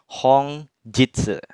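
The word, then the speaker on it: 本日: bacanya bukan Nik ya untuk kancing mataharinya tapi dibacanya Hong Jitsu jadi kanji mataharinya dibaca untuk artinya hongjitsu bisa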